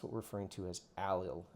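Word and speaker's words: allyl: What we call an alil iodide. That's spelled A L L Y L.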